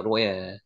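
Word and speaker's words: רֹעֶה: 로에 읽으시겠죠? 로에 여기는 로이라고 읽는데 로이 이렇게 로이 목자입니다.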